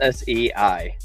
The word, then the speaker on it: Sei: SI pronounced S Ei. I You sure it's not Sai? I think it's SEI. Oh. Oh. Oh, that's literally how you're supposed to say it.